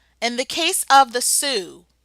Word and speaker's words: Sioux: In the case of the Sioux, pronounced like the girl's name Sue but spelled Sioux, you had the Minnesota Sioux Uprising of 1862.